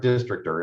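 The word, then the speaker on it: Districtr: It's called District R, or Districtor is actually how they pronounce it.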